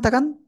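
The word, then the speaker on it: ت: করে দেই দেখেন এবার জিহ্বার আগা এই যে উপরে দুই দাঁত দুই দাঁতের গোড়ায় লাগাবো লাগিয়ে সিম্পল এক আলিফটা নিয়ে উচ্চারণ করব এই যে আমাকে একটু ভালো করে দেখেন আগায় না গোড়ায় হ্যাঁ তা টা এরকম বলা যাবে না তা সিম্পল তা সবাই একসাথে জোরে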